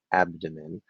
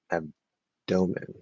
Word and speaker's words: abdomen: other day i discovered some native speakers apparently disagree on what the correct pronunciation of abdomen is uh some strongly prefer abdomen while others like say ab domin well i would be in the first group yeah i'm definitely in